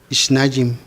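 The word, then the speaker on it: שניים: el dicho en hebreo la palabra 2 se pronuncia y nayim es nadie y la palabra 2 pues simboliza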